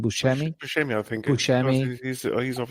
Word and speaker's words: Buscemi: It's with Nick Thompson, Steve Buscemi. That I don't know how to pronounce his name. Buscemi, I think.